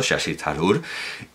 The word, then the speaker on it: Shashi Tharoor: Por cierto, que viene incluso la pronunciación, y es la que estoy usando, Shashi Tharoor, y porque la TH no es think, no es nuestra Z, es una T aspirada.